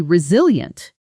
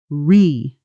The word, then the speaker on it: resilient: Resilient. Stress lands on that second syllable, zeal, and notice the ending, ient. Doesn't sound like e-ent. It collapses into a quick yunt.